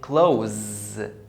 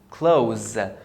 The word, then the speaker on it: clothes: The ES are silent. And the TH is pronounced as Z, as in zoo. So I say clothes, clothes.